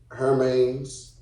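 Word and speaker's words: Hermès: Was it A, Hermes?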